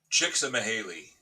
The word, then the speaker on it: Csikszentmihalyi: loud, because I would never be able to pronounce Mihaly, Mihaly. Did you say that? Csikszentmihalyi.